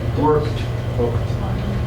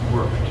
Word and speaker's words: worked: frequently on Ed words it's not pronounced Eed it's with a t or d sound worked not work worked sound it's a soft